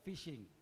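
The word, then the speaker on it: phishing: don't Because these guys, they call it fishing. And they sell spell that fishing with a P. It's not fishing with a P. It's fishing.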